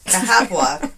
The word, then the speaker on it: Cahaba: This one is, I'm going to try to pronounce it, Cahaba, Alabama. It doesn't sound right, but that's the way it's pronounced. It is one of Alabama's